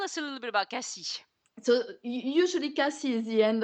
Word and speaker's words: Cassis: to casis though sorry I say Cassis but you say Cassi um we we can tell we can say both yes it depends if you're local or not so how how do